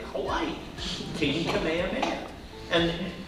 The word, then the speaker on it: Kamehameha: The original Japanese was like equal emphasis on all the syllables. It was like Kamehameha, and you know the rest.